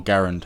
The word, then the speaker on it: Garand: as I understand it'd still be the M1 grand or Garand however people really get upset depending on how you pronounce it I've always pronounced the grand I know that his name was actually Garen but nonetheless that's an incredible rifle by the